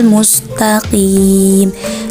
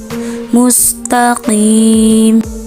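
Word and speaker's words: مُسْتَقِيمَ: Padahal huruf qaf itu termasuk ke dalam huruf isti'la, yaitu pangkal lidah naik. Jadi cara membaca huruf isti'la itu dibacanya tebal, tidak tipis, walaupun dia berharokat kasroh. Cara membaca yang tepat adalah ihdinas siratal mustaqim.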